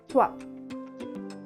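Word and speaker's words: trois: T-R-O-I-S, twa.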